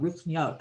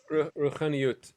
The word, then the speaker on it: Ruchaniyut: This is what Jonathan was talking about before, about Ruchniot. Am I saying it right? Ruchniot? Ruchaniyut, yeah.